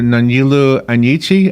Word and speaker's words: Nonyelu Anyichie: And please correct my pronunciation of your name, Dr. Nonyelu Anyichie.